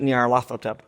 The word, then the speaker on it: Nyarlathotep: I pronounce it Nyarlathotep, but I don't know how the Egyptians pronounced it.